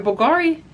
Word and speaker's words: Bulgari: Now, I just Googled the pronunciation of Bulgari. So, don't get up in the comments. Oh my god, you pronounced it wrong. Nope, I looked it up.